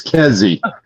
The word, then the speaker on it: Kezi: He kept mispronouncing my name. I said, listen, fuckhead, it's Kezi.